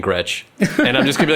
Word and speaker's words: Gretsch: What is the correct pronunciation? What is that? No, I think it's Gretsch. It's Gretsch. I think before I used to call it Gresh because I don't know.